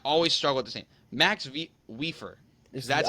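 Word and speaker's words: Mats Wieffer: I'm trying I always struggle with the same Max weer that's how you're supposed to pronounce yeah that's how you're pron I nailed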